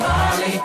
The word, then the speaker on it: Ali: Yeah, you pronounce my name, Ali.